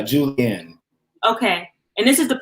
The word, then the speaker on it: julienne: it is julianne the julienne okay okay yeah the process that you're showing us right here the julie the julian um the juliet is a jew how do you say it uh julianne okay and this is